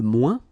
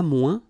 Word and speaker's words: moins: ouin, ouin, okay, and we don't pronounce this final S. Le moins, la moins, les moins.